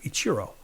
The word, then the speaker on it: Ichiro: Which actually that's the right way to say his name, Ichiro.